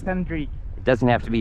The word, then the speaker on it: Andrii: It's Andrii. It doesn't have to be your real name. It's my real name. What is it? Andrii.